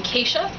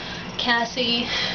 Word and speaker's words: Cassia: So, I am Cassia, which is spelled C-A-S-S-I-A. It is not pronounced Cassia, Cassie, Cassia, Cassandra, or Cashew.